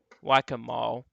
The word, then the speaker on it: Waccamaw: Waccamaw.